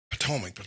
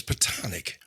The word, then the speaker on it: platonic: And yesterday I kept saying Potomac, but it's platonic.